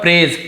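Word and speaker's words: praise: फिर है प्रेज, क्या लिखा हुआ है, प्रेज, प्रेस नहीं बोलेंगे, प्रेज नहीं, प्रे और गजल वाला ज होता है, नुक्ता वाला, प्रेज।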